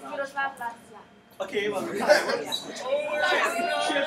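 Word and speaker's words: Miroslav Lajčák: It's Miroslav Lajka. Okay, well, she'll pronounce it better than I will. Right, so say it again. Miroslav Lajka.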